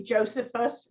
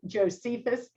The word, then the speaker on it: Josephus: I always want to say Josephus, and it's not Josephus. Thank you very much. I've been corrected, Josephus.